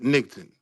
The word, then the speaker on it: Nigton: I'm Two not syllables. Just only two syllables. Nigton, right. not Nigton, niggerton. my fault, Nigton, right?